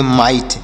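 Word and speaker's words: might: पढ़ेंगे तो इसे पढ़ेंगे माइट यानी अगर आपको कहीं पर आईजीएसटी दिखता है आईजीएसटी कोई शब्द है उसमें आईजीएसटी रहे तो उसे आइट पढ़ेंगे जैसे एम आई जीएसटी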